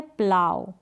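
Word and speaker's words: plough: फिर यहाँ पर है प्लाव। अब जैसे काऊ आप प्रोनाउंस करते हैं ना, सेम वैसे ही प्लाव को आपको प्रोनाउंस करना है। और हाउ प्रोनाउंस करते हैं ना, सेम वैसे ही आपको प्लाव।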